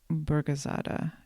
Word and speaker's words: Burgazada: Turkish and apparent um all I remember is that the emphasis is supposed to go on the first syllable of most Turkish words. So hope I said that right.